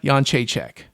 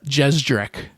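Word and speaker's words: Jędrzejczyk: women's champion Yuana Yonchek or as I like to call her Jana uh Joanna Jezdrech because of how her name is spelled. I don't know how that's supposed to be Yonchek because none of those, you know, syllables coming out of my mouth match any of the letters that are in her name. But that's Polish names for you.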